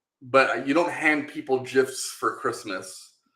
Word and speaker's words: GIF: It's a GIF. It's a hard G for hard G's. It's hard G's.